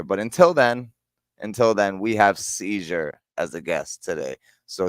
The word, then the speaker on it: Cyzure: spelled with a C and a Y, ZURE. CYZUR, like Seizure, CYZURE.